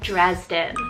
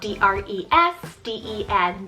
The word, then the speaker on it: Dresden: another german option here we have the name dresden it's about d-r-e-s d-e-n dresden this one is german rooted meaning people